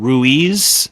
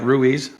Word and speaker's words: Ruiz: Do you prefer that people have the pronunciation Ruiz? Is it really well pronounced, or do you say it a little faster? No, you nailed it right. Ruiz. Ruiz, okay. It's a four-letter word people mess up all the time.